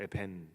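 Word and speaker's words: אבן: 하는 것은 언어 유입니다 히브리어로 돌은 에벤이라고 읽어요 에벤 그런데 아들이라는 단어는 벤이라고 읽습니다 때문에 비슷하게 들려요 그러니 지도자들이 아들을 내다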